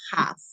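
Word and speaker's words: כ: La CAF se pronuncia, cuando tiene un puntico adentro se pronuncia CAF. Y cuando no tiene el puntico adentro, se pronuncia have.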